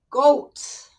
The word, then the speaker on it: goat: If the word has an A following the O, as you can see here, OA, that's why the O is pronounced goat. If the A was not in the word would be gut. But no, it has the A. The letter A makes the O sound like itself, goat.